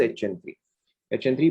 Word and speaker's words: HN3: Okay, it इज नॉट NH3, इट इज HN3।